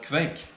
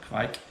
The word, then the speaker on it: Kveik: of the show is the fake or quite depending on i guess whether you're pronouncing the icelandic way or the norwegian way the norwegian farmhouse east